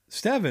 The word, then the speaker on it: Stevin: The first time I saw your name, I wanted to say Stephen, but then I heard it, Stevin, and I was like, oh, it just sounds